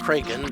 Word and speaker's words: Kraken: Actually, it's pronounced Kraken, but let's not insult classic cinema.